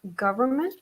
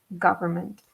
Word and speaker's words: government: word so it's pronounced government so the first syllable is not pronounced are oh it's pronounced something like a gov government and the first n is almost silent government yeah and government what